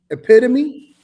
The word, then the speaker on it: epitome: Daddy in the Caddy says, Lex, it's pronounced epitome.